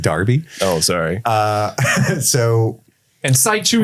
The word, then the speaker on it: Derby: It's pronounced Darby.